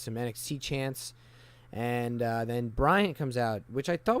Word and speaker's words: Bryan: couldn't stop myself service it sounds like I'm saying Bryant yes why yeah it's just the way I say his name but I'm well aware his name is Daniel Bryan it's just like the